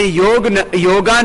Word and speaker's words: योग: हमने योगा नहीं, पूरी दुनिया में अंग्रेजी में भी हमने योग ही प्रसिद्ध किया।